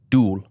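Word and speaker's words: 둘: It's dul. But you pronounce it like a Tennessean.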